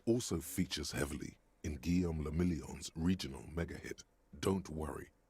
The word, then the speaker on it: le Million: Guillaume le Million. He said la million. It's le million. Guillaume le Million. Motherfucker. If it doesn't rhyme, you're not pronouncing it right.